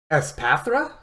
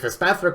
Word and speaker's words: Espathra: Espathra, I believe, is how that Pokemon's pronounced.